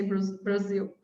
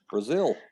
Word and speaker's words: Brazil: And the S sound would mostly be an S to us. Brazil. So that's why we don't spell it like that.